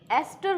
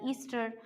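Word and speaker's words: ester: अब आज हम डिटेल में पढ़ेंगे एस्टर ग्रुप, है ना। इसकी स्पेलिंग होती है ESTR, ईस्टर, पर हम हिंदी मीडियम के जो स्टूडेंट्स हैं हम इसको बोलते हैं एस्टर।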